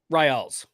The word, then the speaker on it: Ryals: Ryals. Okay, sounds good. I got it. Y is pronounced as an I.